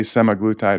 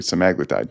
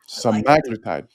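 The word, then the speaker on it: semaglutide: those who took seaglutide by itself people say semiglutide. It's actually saglitide. Nobody pronounces it correctly.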